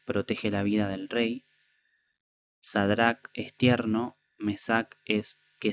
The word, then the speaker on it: Sadrac: veces me confundo, pero la ch al final en hebreo, si no me equivoco, se pronuncia como como pronunciamos nosotros la C, como entonces sería sería en realidad Sadrac y a Misael y Mesac y Aarías Abednego.